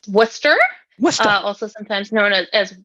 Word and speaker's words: Worcester: opposed to Worchester yes it is not warchester it is Worcester even though that is